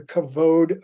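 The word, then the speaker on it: כבוד: understand pursuing God's presence first of all it's pronounced covered already this is a really common uh sort of interpretation of the word kavoda it's actually kavod I love the Hebrew word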